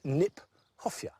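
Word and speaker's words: Kniphofia: to say in fact it's mispronounced we should pronounce it nip hofia because it was named by Johan Hieronymus nip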